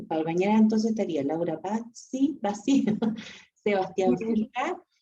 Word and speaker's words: Bassi: Ya, aunque sí, como dijo al principio, sí es italiano, pero se pronuncia Bassi. Claro, por lo que es con S, pues si fuera con C, probablemente sería Bassi.